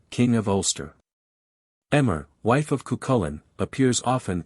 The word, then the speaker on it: Emer: Emer, wife of Cuchulain, appears often in the Sick-Bed. This name is by some pronounced Aver, probably from a different spelling.